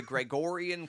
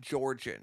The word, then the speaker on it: Gregorian: okay here's the problem I mispronounced the word it's the Gregorian calendar yes I figured that